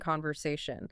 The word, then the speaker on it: conversation: The natural instinct is to nasalize it, to make it sound like the Portuguese sum. Right. It comes out sounding like an open, echoing vowel in the back of the nose. But in English, that suffix should sound like shan. It is flat, and it's percussive.